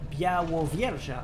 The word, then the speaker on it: Białowieża: Ooh, by the way, speaking of Białowieża, I've had confirmation that I'm actually pronouncing it okay.